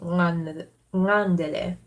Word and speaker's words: ngandele: In exilic Quenya it's nandele, but in a slightly more archaic Quenya it'd be ngandele. Gotta get the velar N going.